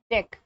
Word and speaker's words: deque: देखिए इसको डेक pronunciate करते हैं, यहाँ पे लिखा हुआ है कि भाई साहब इसको डेक बोलना है, डेक प्रोनाउंसिएट एज डेक, इसको आप डेक से प्रोनाउंसिएशन करेंगे, इसका प्रोनाउंसिएशन है डेक।